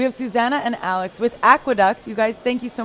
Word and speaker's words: Aqueduck: for your child um it's called the aqueduct Aqueduct tocom it's spelled AE and Duck and basically it's this